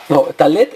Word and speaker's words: talet: Talet es en sefardí y en ashkenazí es talit.